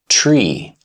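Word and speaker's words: Three: To eliminate those variations and create a single internationally understood standard, the official pronunciation became tree.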